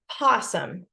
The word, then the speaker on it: opossum: this story about the opossum some people call it posum it's kind of one of those tomato tomato type words where it's pronounced different ways but this is spelled